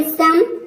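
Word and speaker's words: some: ई आया है, लेकिन यहाँ पे ओ का उच्चारण अ आ रहा है। तो ये कुछ वर्ड्स है, जैसे कि देखिए यहाँ पे सम, नन, डन, लव।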